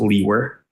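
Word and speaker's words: Liewer: the record and also spell your last name my name is and my last name is spelled l-i-e-w-e-r and it's pronounced Lee were and where are you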